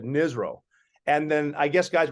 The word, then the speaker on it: NSRO: But my nickname was Nizro, NSRO, and it stood for Navy SEAL Rob O'Neill, because it rhymes. So people would call me Nizro.